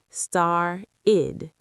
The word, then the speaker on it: started: This is the id ending again. Star-id. Started. That extra syllable is important.